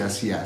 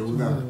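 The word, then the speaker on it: עובדא: Non si dice Asia, si dice Uvda.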